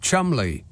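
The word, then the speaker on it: Cholmondeley: running late diex CH Mond is pronounced Chumley it's an Anglo-Saxon thing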